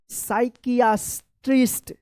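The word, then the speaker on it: psychiatrist: साइकियाट्रिस्ट। क्या पढ़ेंगे? साइकियाट्रिस्ट, साइकियाट्रिस्ट, साइकियाट्रिस्ट। क्या पढ़ेंगे? साइकियाट्रिस्ट, ठीक है ना। यहाँ पे भी जो है पी साइलेंट रहेगा।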